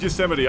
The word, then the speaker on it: Yosemite: I know it's pronounced Yosemite, I know.